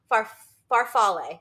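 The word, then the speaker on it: farfalle: I feel like need to know how it's pronounced farf oh far faral that's it farf faral and I said oh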